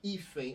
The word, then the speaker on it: hífen: E na palavra hífen, olha. É N. Tá na última sílaba. Então, vogal e o N semivogal. Por quê? Porque o som é disso aqui, olha. Hífen. Esse N tem som de I.